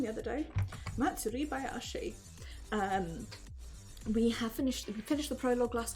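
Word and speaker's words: 祭囃し: Matsuri Bayashi.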